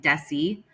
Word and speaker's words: Dessie: to correct you, but my name is actually Desessie, just like Jessie with a Every time, you know,